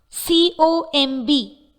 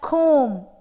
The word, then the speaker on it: comb: Some of the examples of this kind are C-O-M-B. It is pronounced as comb but not comb.